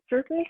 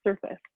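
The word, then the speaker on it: Surfas: of ingredients it's called it's spelled s-u-r-f-a-s like surf like you're smoking um but it's pronounced surface and it's kind of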